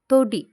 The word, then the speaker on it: തൊടി: തൊടി എന്ന് പറയുമ്പോൾ അതിൽ തോ. തൊടി ഓ എന്നുള്ള ഉച്ചാരണം മാത്രമേ വരുന്നുള്ളൂ അല്ലേ?